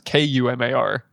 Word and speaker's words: Kumar: No, it's K U M A R. Oh, like Harold and Kumar.